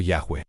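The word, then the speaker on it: Yahweh: Técnicamente, el nombre personal revelado es IHWh, probablemente pronunciado Yahweeh Theologic Mand.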